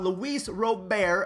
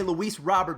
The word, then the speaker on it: Luis Robert: have to talk about luis robert again that's how you say his name but for the sake of today's video we'll say louise robert because i feel like everyone calls him that i thought for a